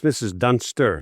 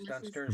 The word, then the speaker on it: Dunsters: And by the way, I hope I'm pronouncing it's Mrs. Dunster, not Mrs. Dunsters, correct? No, it's Dunsters with an S.